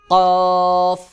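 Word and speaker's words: قاف: কাফ স্বাভাবিকভাবে উচ্চারণ হয় আর কফ এটা শক্ত করে উচ্চারণ হয় যেমন কাফ কাফ কাফ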